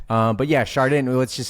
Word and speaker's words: Chardin: up I know I I always said te hard day shard in because that's how it's spelled but um fancier people have been trying to get me to say it the French way um but yeah shardan